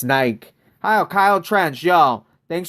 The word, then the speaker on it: Nike: Europeans, right? We pronounce it Nike. Do you guys pronounce it Nike? I heard it's pronounced Nike.